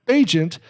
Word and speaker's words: Agent: And we're back, and we're talking to Shannon Agent, it rhymes with agent, from Black Sparrow Music Parlor.